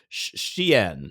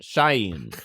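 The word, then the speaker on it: Shein: It's sh h i n. I think the one that everyone hates is sh h e i n. I think it's a sheen either way.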